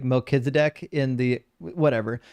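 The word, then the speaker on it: Melchizedek: It's it's a two-part word. It's uh melik for king and zedk.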